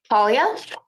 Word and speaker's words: Paglia: Talia?